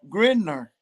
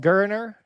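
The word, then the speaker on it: Geriner: 12 is hold holding grinder i you know listen i think it's pronounced gurner i think that's i've got that right yes holden gurner is i believe number 12.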